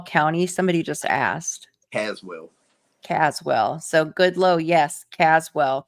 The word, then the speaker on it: Caswell: you in cwell County somebody just asked Caswell Caswell so good low yes Caswell County I pronounced it wrong okay yeah I'm right on